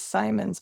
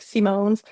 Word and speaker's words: Symonds: My last name is Simons, but it's spelled I thought it was French like Simones or at Redneck like Simons, but it is Scottish apparently.